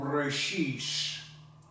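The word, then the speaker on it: בראשית: This book is called Brashis, which is the Ashkenazi pronunciation for brait, which is the Hebrew word for Genesis.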